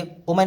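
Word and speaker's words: woman: My good वुमन, मेरी अच्छी या मेरी प्यारी औरत, उसने कहा सन्यासी, बुम इसको वुमन पढ़ेंगे, वुमन नहीं पढ़ते, वुमन पढ़ते हैं, इसकी सही प्रोनाउंसिएशन है वुमन।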